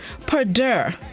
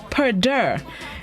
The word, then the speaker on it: perdure: go this morning's word of the day is parder perder it's spelled p-e-r-d-u-r-e pader it's a verb which means to continue to exist purdue it may be an unfamiliar word for many